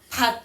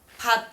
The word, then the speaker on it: 갓: 지금은 예를 들어 이거 읽을 때 어떻게 읽어? 갓 이렇게 읽지 그지? 얘도 어떻게 읽어? 갓 이렇게 읽지. 얘네 두 개 시옷이랑 디귿이 발음이 같단 말이야.